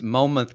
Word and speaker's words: Monmouth: The N is silent, so it's Monmouth County.